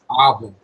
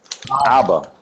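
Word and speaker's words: אבא: Chief, how do you pronounce that? Abba. Abba. Abba is father.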